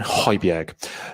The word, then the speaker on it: Højbjerg: Well, let's say that again, Højbjerg.